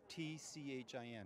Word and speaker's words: Tchin: It's really easy, because my name is spelled T-C-H-I-N.